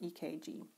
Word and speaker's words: EKG: in the heart now why do we sometimes call it an EKG because in other languages for instance German it's spelled with a k electrocardiogram so that cardio is spelled with a k and very often you'll hear me call it EKG keep in mind that